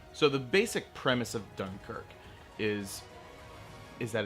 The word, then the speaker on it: Dunkirk: and France are attempting to escape a German-occupied Dunkirk, which is apparently how it's actually supposed to be pronounced.